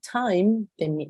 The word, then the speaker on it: time: mi palabra entonces normalmente palabras que ustedes vean así chiquiticas sí como las ven acá esta sigue siendo una palabra chiquitica no tiene más de dos sílabas Y ustedes ven que hay una y al final lo más probable es que SAE no se vaya a pronunciar de ninguna manera y miren los ejemplos